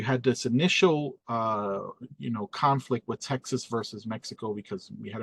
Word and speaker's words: Texas: And I mean, come on, the name Texas, it's supposed to be pronounced Tejas, right?